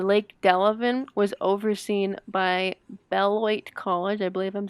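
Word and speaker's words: Beloit: site at the lake delavan was overseen by bellwhite college i believe i'm saying it right b-e-l-o-i-t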